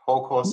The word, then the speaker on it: Houkousei: thank you on this episode we will discuss jor corsei is that correct whole course today yeah good pronunciation which i learned from you can be